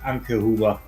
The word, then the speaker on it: Anke Huber: Actually, it's pronounced Anke Huber.